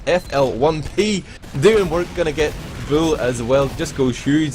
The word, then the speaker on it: Bull: As I was saying, I've been snapped at for pronouncing his name incorrectly. It is actually Bull. I'm sorry about that. Don't worry, man. I spent the last cast of the last 2 calling him Boule. But yeah, it's Bull.